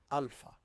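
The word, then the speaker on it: ⲁ: The first letter is alpha, alpha, and is pronounced just like the letter A in English.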